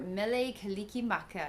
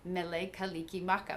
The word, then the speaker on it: Mele Kalikimaka: have a t and they do not have an s in their language and so in saying Merry Christmas the only way they could figure out how to say it was Mele Kiki Maka which doesn't sound much like Merry Christmas but enough um and